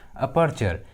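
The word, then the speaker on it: aperture: तो जब भी किसी इंग्लिश वर्ड्स में टी के बाद यू आर ई आता है तो टी का उच्चारण च होता है, ठीक है, टी को च पढ़ते हैं।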